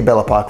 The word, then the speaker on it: Bellapoc: love here bellapoc realty bellapoc rhymes with clock i am at our